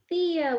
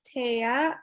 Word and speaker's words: Thea: one thank you yeah thea welcome hi um my name is taya i started taking no worries everyone pronounces it thea so um taya and i am at